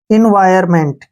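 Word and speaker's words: environment: लिया हमने इन वायर यहां एन का उच्चारण नहीं करेंगे क्योंकि वावल के बाद एन आया है तो साइलेंट रहेगा इन wire M ई एन टी मेंट एम ई एन टी मेंट एनवायरमेंट क्या पढ़ेंगे इसको एनवायरमेंट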